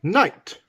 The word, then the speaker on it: knight: example that would be knight with a k at the beginning silent k night of the realm